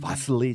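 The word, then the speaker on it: Wassily: 근데 이거보다 더 유명한 게 이제 웨슬리 체어죠. 이거. 웨슬리 체어는 아름답죠. 웨슬리 체어는 아름답죠. 네. 이게 이제 웨슬리 체어인데 바슬리 체어? 네. 바슬리라고 부르기도 하고. 근데 이게 독일어로 해서 W가 B 네. 발음 났구나.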